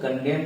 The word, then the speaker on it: condemn: उसी तरह से CONDEMN है, यहां भी देखिए MN आया एक साथ, इसीलिए एन साइलेंट हो गया। इसको हम लोग कंडेम कहते हैं।